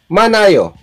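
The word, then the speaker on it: 많아요: Manayo. Sounds like manayo. Sabi ko nga itong hiyot or h or ha ay hindi binibigkas. So, manayo.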